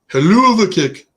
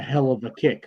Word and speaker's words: Hell of a Kick: Haluva kick. It's funny because I really didn't know it was like haluva. I always thought like it was just a hell of a kick because it's spelled hell of a.